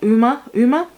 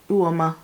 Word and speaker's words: Uoma: Uma Beauty. I want to say Uoma because it looks like Uoma. No, Uoma. That's like the Yoruba name.